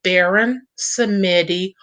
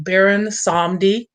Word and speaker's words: Baron Samedi: His name is Baron Samedi, or some people call him Baron Samdi. He goes by, you know, little different names, but it's still the Baron.